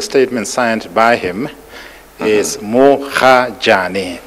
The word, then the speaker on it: Mogajane: As I have it from the statement signed by him, is Mogajane, M-O-G-A-J-A-N-E. Yeah, no, the spelling I know. It's just that I would have said Gajane instead of Hajane.